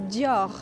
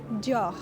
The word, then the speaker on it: Dior: So pronunciation is Dior. So there's the R at the end that might be a bit tricky. Dior.